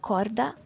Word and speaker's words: corda: um uh uh cor Corda like c o r d a like the word for rope cord then it's in the middle and it's not starting a syllable so then it depends